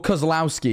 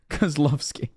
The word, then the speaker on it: Kozlovsky: Or Kozlowski, because Americans would say it like that. Kozlovsky.